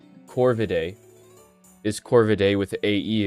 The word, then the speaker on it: Corvidae: We pronounce it today as Corvidae, like AE. But in classical Latin, it's Corvidae.